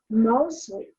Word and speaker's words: Moseley: Moseley. Did I say that correctly? Is that how I'm supposed to pronounce it?